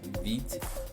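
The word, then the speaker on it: vite: the other one yes feet french word for fast pronounced beat is up to and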